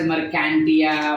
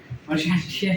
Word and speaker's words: Marchantia: people also pronounce it as Mercantia, Marchantia, whatever. Marchantia is the proper pronunciation that you can approach for, ठीक है।